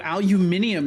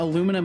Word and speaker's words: aluminium: the word aluminum oh aluminium you mean it's the perfect amount of laziness and preciseness I mean yeah aluminum is the the bastardized version of um of aluminium which is the the proper pronunciation right yeah it it